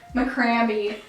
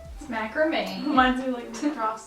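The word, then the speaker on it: macramé: so funny okay so I thought that this is pronounced McCraney the creamiest Ackerman oh my gosh ever you can't wait to make the cream in you coming with you macrame oh yeah your batteries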